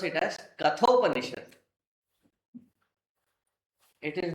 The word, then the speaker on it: Kathopanishad: So it is not Kathopanishad. It is Kathopanishad.